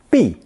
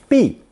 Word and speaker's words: 毕: It's pronounced fourth tone, B, B.